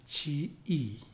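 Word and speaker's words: Zhiyi: I think Chinese pronunciation was Chi-yi, who was a founder of Tendai teachings, Tendai or Tiantai Buddhism.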